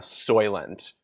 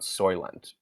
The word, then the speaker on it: Soylent: write an essay about soylent because i guess it was a hot topic at the time how do you say that is it s-o-i-l-e-n-t e s-o-y t oh okay oh soy like soy like soy yes okay